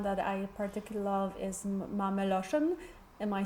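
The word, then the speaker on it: מאַמע־לשון: words, and one that I particularly love is Mameloshen. Am I saying it right? Like yes, mother tongue? Yeah, mother tongue, Mameloshen.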